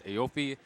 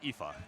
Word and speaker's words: Aoife: And Classic Tetris 4, which has Aofi, Kira Dev, Rose, and Storm and Norman. Yeah. It's actually pronounced Aoife. Oh, Aoife. My bad.